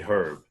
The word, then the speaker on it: Herb: So the H is silent.